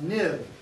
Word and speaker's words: XIB: hello view controller uh nib again it's XIB extension but it's pronounced NIB for used to be